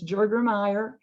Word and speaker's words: Jurgermeyer: She says her name, the mother's name is Catherine, and you do pronounce the J. It's Jurgermeyer, and she would be the recipient.